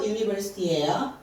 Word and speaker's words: university: 그래서 U 발음 나는 거는 자음이에요. 첫 글자가 J라서. 그래서 얘는 자음은 university예요.